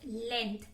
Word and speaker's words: length: The letter G इज साइलेंट. क्या बोल रहे हैं कि लेंथ वर्ड बोलो. लेंथ जब आप बोलोगे, G क्या है, साउंड क्या होती है, ग. बट हम जब भी लेंथ बोलते हैं हमें कभी भी ग की आवाज नहीं आती है. तो क्या है, this G इज साइलेंट here.